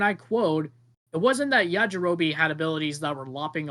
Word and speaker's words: Yajirobe: Yajirobe, is that how you pronounce his name? Yeah, Jirobe. Yep. Yajirobe, yeah.